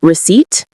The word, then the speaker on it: receipt: Receipt has two syllables. We stress the second one. The P is silent.